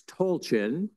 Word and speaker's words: Tolchin: For the fellows who heard me pronounce it incorrectly for weeks, it's Tolchin. I've been corrected, so that's the right way to do it.